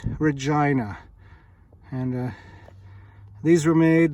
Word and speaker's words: Regina: something road lauren street regina saskatchewan now don't pronounce this regina you'll get corrected it's regina and uh these were made these are literally